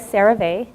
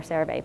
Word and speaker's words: CeraVe: I like CeraVe, which is spelled C-E-R-A-V-E.